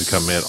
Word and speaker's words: Kemet: You said Kemet a lot. Solid. Because that's how you say it.